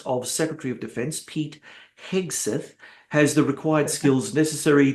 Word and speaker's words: Hegseth: Now, from what I understand, and look, I don't want to be too cynical, Hegseth, I can never pronounce his name. Hegseth, right? Hegseth, yeah, that's right, Hegseth.